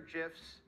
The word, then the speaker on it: GIF: So the guy who created it says GIF, like the peanut butter, but everyone else says GIF, so I'll also say GIF.